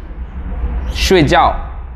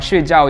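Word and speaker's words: 睡觉: different meanings, or just if you miss the right pronunciation, you are saying another things. For example, sleeping, 睡觉, that means sleeping.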